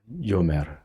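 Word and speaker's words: יֹאמַר: 그 다음에 O 장모음, 그 다음에 이 알렙은 묵음이 됩니다. 묵음. 그 다음에 원래는 메르, 요메르.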